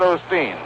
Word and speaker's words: Osteen: now the hitter is the pitcher claude osteen rod is an irishman and his name is spelled o-s-t-w-e-n you pronounce it like it were